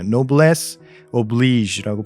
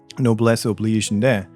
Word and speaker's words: noblesse oblige: 근데 영어에서는 이렇게 발음해요. Noblesse oblige라고 발음을 해요. Noblesse oblige인데 Noblesse oblige. 예, noblesse oblige. Noblesse oblige. oblige. 예, 그 G 발음이 원래 영어에는 없는 발음인데 이제 이런 외래어 발음에서는 가끔씩 튀어나오거든요. 그래서 noblesse oblige라고 그러는데 그래서 이 줄표가 또 있죠.